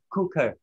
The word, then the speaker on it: cooker: Cooker. Cooker. đấy, cooker. Nhanh lên như thế, cooker. Đẩy đẩy nhanh lên, cooker, cooker, cu cu thôi đừng đọc là cúc nhá, đọc là cu